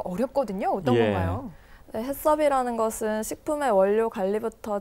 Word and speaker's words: HACCP: 4 자 그렇다면 사실 저는 haccp 처음에 어떻게 발음해야 그 사람 잘 몰랐어요 서울이다 슥 아세요 그 해썹 일을 했어요 패 소린데 새롭게 변경될 보며 어떤